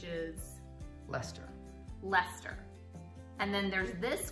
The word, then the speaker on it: Leicester: And then there's another place that you will see in Britain, which follows the same convention of you don't say Sester, which is? Leicester.